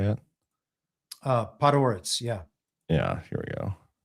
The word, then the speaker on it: Podhoretz: Podhoretz.